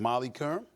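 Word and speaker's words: Molly Qerim: Max Kellerman, Molly Karam. Oh my God. Okay. Rhymes with harem.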